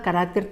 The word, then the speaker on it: carácter: error pero veamos otras observa la palabra carácter evidentemente en la primera columna carácter tiene una tilde y ya te estoy señalando qué es la pronunciación pero también la escritura correcta ahora bien su plural observa que no tiene tilde por tanto como buena palabra del grupo del 7 el plural de carácter es caracteres hasta ahí creo que